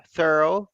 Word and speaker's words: thorough: thought thorough thought tarot forgot about the the GH in the middle and go thorough thought thorough completely thought complete thinking